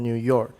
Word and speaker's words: New York: is not a compound but new york liang do you york has the tonic stress so your examples uh the boy came from new york the boy came from